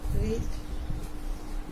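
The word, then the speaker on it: read: They must রিড ইট, তাহলে ইটকে সামনে নিয়ে আসি। It must be রেড by them. রিডের past participle form কিন্তু রেডি থাকে, এর উচ্চারণ শুধু একটু চেঞ্জ হয়ে যায়, রিড রেড রেড।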